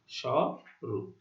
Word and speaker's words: স্বরূপ: আরেকটু উদাহরণ দিই, যেমন স্বরূপ, এখানেও আদ্য এর পরে উ ধ্বনি থাকা সত্ত্বেও আদ্য এর উচ্চারণ অ এর মতো হচ্ছে, স এর উচ্চারণ স এর মতো হচ্ছে, দেখো, স্বরূপ।